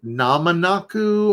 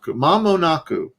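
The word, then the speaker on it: 間もなく: great today mama naku i heard this word repeatedly when i was on the subway or trains in japan and i thought it was something namanaku or nananaku i thought it was something else i didn't perceive the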